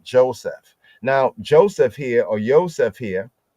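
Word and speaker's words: יוסף: Here we have Yehoseph, Yehoseph. Often we say Yosef because that's how it's usually spelled.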